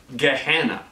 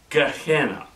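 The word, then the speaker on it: Gehenna: g e e h e n n a GNA g spell that again sure g e h e n n a Gana okay let me also give you a Biblical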